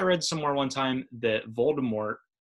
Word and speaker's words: Voldemort: somewhere one time that Voldemort was originally intended to have a silent T at the end yes kind of almost French sounding pronunciation yes so every time